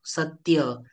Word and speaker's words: सत्य: संस्कृत मधूनच आलेली आहे त्यामुळे नित्य असत्य सत्य असंच आपण उच्चारण करतो तत्र तत्र म्हणत नाही आपण सत्य म्हणत नाही सत्य सत्यच म्हणतात सगळे सगळेजण परंतु हा नियम आपल्याला